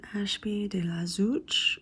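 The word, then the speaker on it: Ashby-de-la-Zouch: he was sent to Ashby deuch is how you say it to be instructed by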